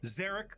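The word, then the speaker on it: Szarekh: I like how the auto subs get the phonetic pronunciation of Zarek right, but that's not how it's spelled.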